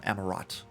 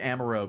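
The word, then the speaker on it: Amaurot: rots okay gotcha um amarat I've definitely been mispronouncing that then because I I defaulted to Amaro because like so many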